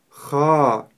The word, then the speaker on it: خ: х Ха х Ха не следует её произносить мягко х или х Нет мы её произносим твёрдо ха также характерная ошибка при произнесении твёрдой буквы ха это губы трубочкой Когда при произнесение которой получается звук о хохо Это неправильно мы произносим его так ха ха ха